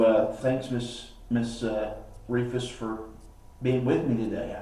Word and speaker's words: Rehfuss: with that I have if people remember it's long e and just forget about that age because it's silent we should still get